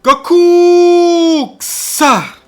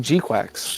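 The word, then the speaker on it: GQuuuuuuX: Which is like an Gundam Gokuksa. Is that how you say it? No, it's G. It's like G-Quacks.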